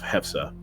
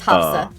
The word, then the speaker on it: Hafsa: Of Hefsa. Or yes, I'm gonna have to. If I said her name wrong just now, I'm sorry. It's okay, it's Hafsa. You're fine.